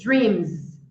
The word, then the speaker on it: dreams: Ali, dream, mesma coisa. Dream. Vibrou, a letra M vibrou. Então, eu vou pronunciar com som de Z. Dreams.